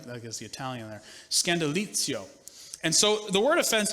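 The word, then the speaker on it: σκάνδαλον: with a definition and a pronunciation of a Greek word that I didn't butcher in the first service but it will sound more Italian the more I say it Scandal scandalo see little Lio right that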